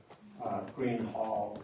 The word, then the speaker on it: Greenough: the early uh Thanks, one of the early English spellings had an H in the middle. So, you can see it was uh green hall is the way it's sort of spelled phonetically.